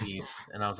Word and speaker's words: Ys: pronounced the first time I always said Ys until somebody said it was East and I was like